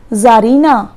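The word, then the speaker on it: Czarina: क्या नो यह जाहिर सी साइलेंट रहता है हम इसी जार लेंगे अब यह है ज़रीना सी नहीं बोलेंगे और 1000 का मतलब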